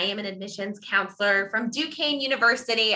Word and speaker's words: Duquesne: an admissions counselor from duquesne university i know it's a weird french word but that is how we are pronounced i'm an assistant director